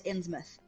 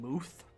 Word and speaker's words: Innsmouth: to england and so it is innsmouth with muth okay both traffic is similar to like you know the town plymouth okay p-l-y-m-o-u-t-h okay so like plymouth got it yeah cause travis was pronouncing it wrong himself he was saying mooth with an ooh like a like a long yeah like that's not right either but i was wrong